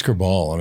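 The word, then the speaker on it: Kerbaol: Citrine Kerbal, yeah.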